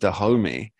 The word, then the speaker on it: Dahomey: it, namely being that I believe this is pronounced Dahomey, spelt with an X, were some of the